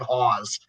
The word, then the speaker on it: Hause: His name is Dave Hawes. It's spelled Hause, pronounced like pause.